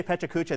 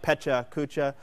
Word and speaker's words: Pecha Kucha: Petra Kucha or Pachuca I say petrikucha that is the bastardized Americanized version of it it's really Pacha uh but it's phonetically it's two separate words it looks like pecha Kucha so I will speak